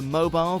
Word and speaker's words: mobile: Even more confusing if you're talking about the mobile that hangs over a baby's cot. This can again be pronounced differently in certain parts of the States, and sounds more like mobile. It's like a Batmobile.